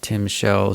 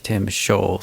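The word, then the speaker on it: timshel: which he states that the word Tim Shell should actually be pronounced something more like Tim Schaw. So it should be an O instead of an E.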